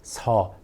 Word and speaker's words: 설사: It needs some practice, like 설사. And you know what? I think it's the first time you're hearing me say the word 설사 on this channel.